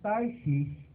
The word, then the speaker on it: Tarshish: tarsis po o sa English po niya is tarshish Hindi po tars ha Hwag niyong malapit-lapit sa